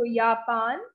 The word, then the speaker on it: Japan: next is our yapan this is japan so yapan and the language is yapanish yapanish next we